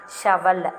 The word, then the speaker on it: shovel: S-H-O-V-E-L, shovel. S-H-O-V-E-L, shovel. Here we have to pronounce O as A. Okay, va, shovel.